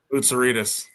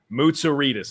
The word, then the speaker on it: Moerus: name how's it pronounced moerus moerus okay so exactly as it looks I I would have